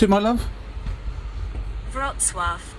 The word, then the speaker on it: Wrocław: Wrocław. Right. Now, not Rocklaw, which is how it looks on the map.